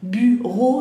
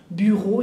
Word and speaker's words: bureau: Bien, escritorio es bureau, que bureau, bien, la pronunciación bureau, acuérdense que EAU es el sonido O, bien, bureau y la R.